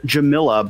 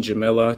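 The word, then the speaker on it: Jamillia: and we start with sean sullivan so it's pronounced jamilla but it's spelt real funky jamilia it's acceptable and andres queen jamila chamillia yeah that's also acceptable so we have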